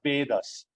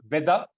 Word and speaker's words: Veda: of shastras is The Vedas so you will see again e in capital A in capital it's not Veda it is Veda right so a long e and long a so Vedas is the